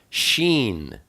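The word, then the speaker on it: שין: Next we have Sheen. Sheen is the number 300, and it's pronounced sh, like shamayim.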